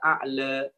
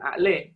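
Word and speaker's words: الأعلى: Nah, ini nanti pada pelafalan Makanya ada yang membaca wadduha, pernah kita dengar ya, wadduhe, tapi juga bisa dibaca sabbihisma rabbikal a'la, bukan a'le.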